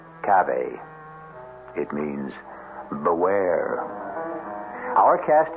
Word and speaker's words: cave: I equate cave with the Latin word spelled the same way c-a-v-e but pronounced Cafe it means beware our